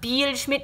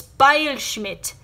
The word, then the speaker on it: Beilschmidt: beilschmidt in German when two vowels are next to each other the second vowel is pronounced like you see in my last name so it's not Beach MIT it's by a Schmidt translating to act Smith